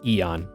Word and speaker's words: Aeon: to put anything in there uh yeah it's pronounced Eon like e like e o n yep my